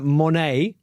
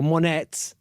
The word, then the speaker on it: Monét: Right, let's try and pronounce this one correctly. Victoria Monét, or Monét, M-O-N-E with an acute accent, T.